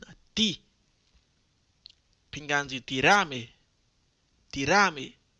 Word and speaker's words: tírame: Dominicain la bdou tírame por WhatsApp. Rappelez-nous bien, faut nous accentuer sur premier syllabe nan. Ti. Pingan di tirame. Tirame. Faut nous accentuer sur ti.